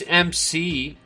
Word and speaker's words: McAfee: Well, it's McAfee.